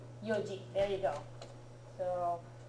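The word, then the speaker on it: 四時: 4 o'clock is another one of those that's a special pronunciation. Do you remember what it is? It's like yon, but shortened to yoji.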